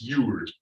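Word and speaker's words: Jul: The old Scandinavian language, it's spelled J-U-L, pronounced Yule. Very heavy O, or Yule.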